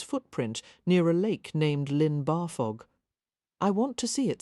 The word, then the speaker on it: Llyn Barfog: But the double L sounds more like Thel. Let a breath of air slip around the sides of your tongue."